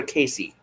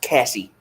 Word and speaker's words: Cassie: I do want to ask, is it pronounced Cassie or Casey? How in the hell would they answer? Put a 1 in the comments if it's Cassie. Put a 2 in the comments if it's Casey. There you go. It's pronounced Cassie.